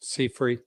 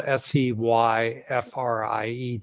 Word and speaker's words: Seyfried: Thomas, it's spelled Seyfried. So it's like Seyfried, Seyfried. Fried eggs. Yeah.